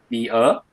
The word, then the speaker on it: Mia: Wait, how did you pronounce her name? Mia.